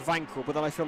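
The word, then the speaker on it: Wankel: to consider is um the Wankle engine or Vankele engine. You got to you got which is it? I'm reliably informed that it should be pronounced Vanqu, but then I feel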